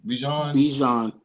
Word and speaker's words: Bijan: B is it BJ Bijan like Dijon mustard but with a B Dijon mustard wow okay